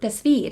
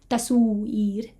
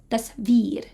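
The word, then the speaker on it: تصویر: So this word, tasveer, has a vowel in the middle, but you can see that it's pronounced with a v rather than u, right? It's not tasveer, it's tasveer.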